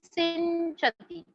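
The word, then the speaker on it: सिञ्चति: जाड्यम धियो हरति सिंचति, जैसे पंच बोलते हो वैसे ही सिंचति.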